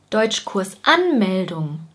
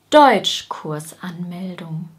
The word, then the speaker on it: Deutschkursanmeldung: Das heißt, wir sagen zum Beispiel nicht Deutschkursanmeldung oder Deutschkursanmeldung. Wir sagen Deutschkursanmeldung.